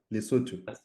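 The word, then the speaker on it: Lesotho: loto lutu am I saying it right yeah lutu boom he was there he was there and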